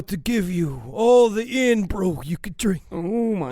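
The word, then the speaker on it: Irn-Bru: What if I were to give you all the in brew you could drink? Oh my. All the vape juice It's pronounced iron brew.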